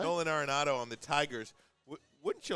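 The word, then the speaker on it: Arenado: Nolan Aronado on the Tigers.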